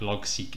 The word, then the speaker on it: Logseq: get to this page which basically explains what log seek is if you have heard of rome research